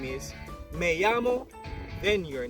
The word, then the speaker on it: me llamo: Now in Spanish, double L's are pronounced as Y's.